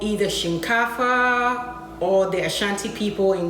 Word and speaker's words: shinkafa: to be making today usually it's called either Shin cava or their Shanti people in Ghana collagen cover that's when you pronounce it Shin cava and the house language means rice okay this